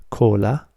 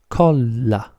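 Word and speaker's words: colla: the sound L normally cola if you put more emphasis on the sound L and you pronounce it twice as hard it becomes Cola Cola so if you say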